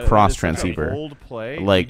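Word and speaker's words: Xtransceiver: lot of Yu-Gi-Oh lately yo X trans cross transceiver it's pronounced cross transceiver um pretty much our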